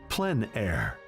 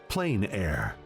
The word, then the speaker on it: plein air: open air or outdoors the french pronounce it plein air others say plain air no matter how you